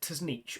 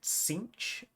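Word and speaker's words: Tzeentch: CCH um weird enough I used to pronounce it t nich all my life since fourth edition I pronounced it t nich and then Games Workshop came out with that official pronunciation guide and they pronounced it cinch um so I've tried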